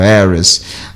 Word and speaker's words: heiress: O H, ele pode ser mudo em poucas palavras. São 5 palavras na língua inglesa. Isso depois eu dou para vocês, como o hour, o honor, o honest, o air e o heiress.